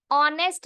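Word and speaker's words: honest: ऑनेस्ट में ओ की आवाज आ रही है, एच की आवाज नहीं आ रही है।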